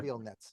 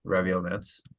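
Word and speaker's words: Reviel Netz: say it's A New History of Greek Mathematics, Raviel Nets. Would that be the pronunciation of the author's name? Raviel Nets, yeah. Raviel Nets.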